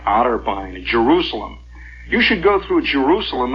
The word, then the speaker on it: Jerusalem: there is there's the big sign it says Jerusalem in theana and you can whistling it Jerusalem by the way is the way it's pronounced out there you start coming into Jerusalem